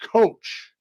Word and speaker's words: Koch: Also, the young man, and it's spelled Koch, but it's pronounced Coach, as in Coah, and it's going to be Brandon Coach.